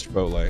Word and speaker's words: Chipotle: How do you say Chipotle? Is it Chipotle? Si. Oh, okay. It is Chipotle.